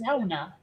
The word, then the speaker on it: sauna: Although in Finnish, it's pronounced sauna.